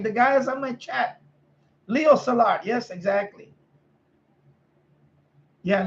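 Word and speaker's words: Leo Szilard: yes solar like the guys on my chat Leo Salat yes exactly yeah Leo salad so I finally figured out oh that's how you pronounce his names yeah so you know the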